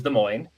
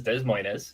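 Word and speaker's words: Des Moines: we talk about cities that are hard to pronounce. The capital of Iowa is De Moine and if you read it, it says Desmos, you know, so you'll hear that, too.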